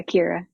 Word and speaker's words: Kira: So, Kira, it's pronounced Kira, correct? Yeah, Kira. Yeah. Okay. I have a cousin, Kyra. So I just wanted to make sure because I'm pretty sure my Nice. cousin spells it the same way.